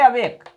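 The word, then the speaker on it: awake: वेक देखिए फिर से वेक। तो आ पर हम तो ज्यादा जोर नहीं देते यहां पर बहुत जल्दी से बोल देते हैं आ फिर देखिए वेक को वेक तो ये क्या है ये आ हो गया अनस्ट्रेस्ड और वेक हो गया स्ट्रेस्ड ये पूरा एक वर्ड है अवेक यहां पर हमने स्लश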